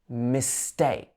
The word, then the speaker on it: mistake: Mistake. So this is a light syllable at the beginning. Mistake. We emphasize the take.